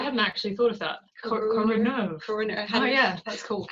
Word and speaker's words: CoroNERV: Is that how you pronounce it? Oh wow, I hadn't actually thought of that. CoroNERV.